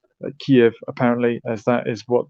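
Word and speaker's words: Kyiv: So it's important that we pronounce Kiev as Kiev. Kiev apparently as that is what the Ukrainians prefer.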